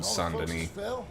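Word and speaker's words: Saint-Denis: I went to was called sandani spelled like the way that they do in this uh Saint Dennis yeah it's like oh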